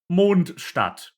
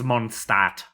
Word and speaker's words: Mondstadt: This should be pronounced Mondstadt. Moon City. That's not what they say, though. Oh no. Oh no. It is Mondstadt.